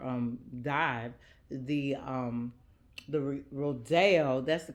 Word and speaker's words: Rodeo: my own deeper um dive the um the rodo that's the correct pronunciation of it the rodeo cuz it's named